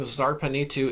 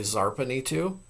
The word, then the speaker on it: Zarpanitu: The lady of the city of Zarpan, well, it would probably be Zarpanitu because her city also is pronounced with, it has a Z at the beginning.